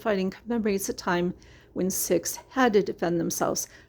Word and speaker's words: Sikhs: fact that sikhs uh six actually uh like the it's pronounced i guess like the number six but it's s i